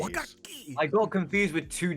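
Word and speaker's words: 和楽器: Oh yeah, Wagakki. Oh, You Speedy, you need to pronounce the double consonants in Japanese. Wakaki!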